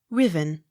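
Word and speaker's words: Ruthven: pitchly r u t h v e n riven s a n d y s sans s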